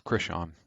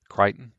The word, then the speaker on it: Crichton: and movie um written by Michael Crichton or Christian is that how you pronounce it how you pronounce that okay say it again Crichton yeah okay um and uh I absolutely adore